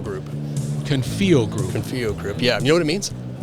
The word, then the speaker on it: Confio: Confio Group. Confio Group.